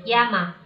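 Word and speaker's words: 山: Kanji gunung ini apabila dia berdiri sendiri seperti ini, kita bacanya yama. Jadi kalau kanji gunung ini dia ditulis sendirian, nggak ada temennya, kita bacanya yama.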